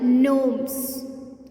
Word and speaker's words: gnomes: No, gnomes, because G is silent here.